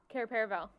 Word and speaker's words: Cair Paravel: Cair Paravel? Cair Paravel.